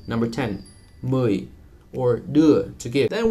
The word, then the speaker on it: mười: And that one you can practice by saying U and then relaxing your lips. U, u, as in mười, number 10, mười, or đưa, to give.